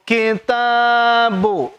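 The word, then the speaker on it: كِتَابُ: Cukup kitabu. Hati-hati jangan ada yang baca panjang.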